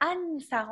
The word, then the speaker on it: Anssar: Donc, les prononciations, en fait, c'est Ansar. On prononce le N.